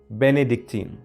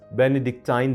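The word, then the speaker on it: Bénédictine: Number 3, बेनेडिक्टीन, या इसको pronounce बेनेडिक्टाइन भी करते हैं।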